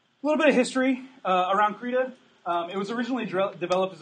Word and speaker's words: Krita: It's actually Krita. It's a Swedish word.